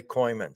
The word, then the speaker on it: Kooymans: of the Year many honors welcome today coyman hi hi Matthew how you doing great